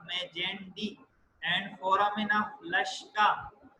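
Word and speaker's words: Magendie: और ये इंपॉर्टेंटली 2 चीजें लिखी हुई, foramen of मेजेंडी, pronounce this as foramen of मेजेंडी and foramen of लश्का।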